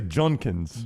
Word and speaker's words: Judkins: State is number three spell it right and say it wrong it's the weirdest thing Quin Sean no you say junkins junkins Judkins uh Evan Stewart is